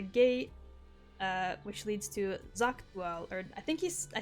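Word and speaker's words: Xak: uh which leads to Zach or I think he I think Aaron Vale said it was like Jac like the x is pronounced more like a j lur Now by later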